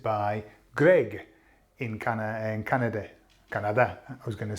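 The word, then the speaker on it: Canadá: Greg in can Canada Canada I was going to say that's how you pronounce it in Spanish Canada with an accent on the a we up to that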